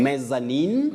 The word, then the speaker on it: mezzanine: Mezzanine. Mezzanine. You can also say mezzanine. Mezzanine or mezzanine. Both are acceptable.